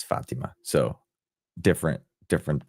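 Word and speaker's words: Fátima: of Our Lady of Fatima um debuted and um I think it's funny because it's it's a Spanish word. It's Portuguese I think. So it's the accent's on the a Fatima, but it's spelled like Fatima.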